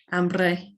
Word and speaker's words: hambre: Spanish just has one silent letter, which is the H in front of a word like hambre, hunger, and so on.